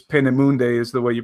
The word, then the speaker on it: Peenemünde: V2 rockets in Germany, and I think it's Peenemünde is the way you pronounce it.